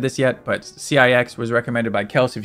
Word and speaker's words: CIX: So CIX, pronounced CIX, is a 5-member South Korean boy band formed by C9 Entertainment.